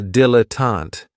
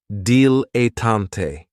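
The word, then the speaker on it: dilettante: Another great noun, which is another one of my favorites, is a dilotant. And this word has three syllables. And there's kind of like a stress on that first and last syllable. Datante.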